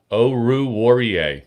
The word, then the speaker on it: Oruwariye: Oh, I'm gonna mispronounce that name every single time, guys. Oruwariye.